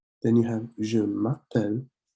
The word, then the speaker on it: je m'appelle: Then you have je m'appelle, link these two sounds together.